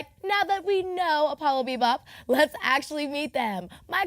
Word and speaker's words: Apollo Bebop: and we went with Apollo Bebop. And it's Apollo like the Greek god, Bebop like jazz. You spell it APOLLOBEBOP.